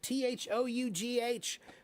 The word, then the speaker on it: though: Everybody says, why do you spell it t h o u g h?